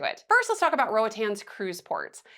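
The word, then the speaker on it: Roatán: And by the way, I thought I was pronouncing it right for a long time, Roatan. It's actually just Roatan.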